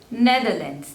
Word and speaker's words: Netherlands: Namibia next is Netherlands Netherlands there are three slavers and the stress is on the first one Netherlands Netherlands Netherlands next